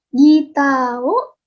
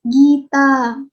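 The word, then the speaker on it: ギター: Gitao hikimasu. Ingat ya ininya. Kalau misalnya kalian bertemu dengan katakana yang menggunakan seperti ini dibacanya panjang. Seperti gita. Bukan gita, tapi gita.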